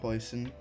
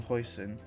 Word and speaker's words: Huijsen: Our first bit of news here is Dean Hoyson, I believe his name is pronounced, is looking likely to join Chelsea.